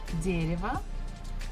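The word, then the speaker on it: дерево: that is a tree dereva stressfuls on the first syllable so the first syllable we must pronounce as it is but next one Ria is not stressed so we can change it into e woo also not stressed you can change it into a so it will be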